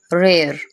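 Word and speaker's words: rare: Next है रेयर बोलना है, इसको रार नहीं बोलना, रेयर।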